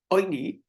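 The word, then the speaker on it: עֹנִי: So we know to pronounce it oini with a cholam with a dot in the top left of the ayin.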